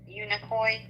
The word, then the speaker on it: Unicoi: Unicoi.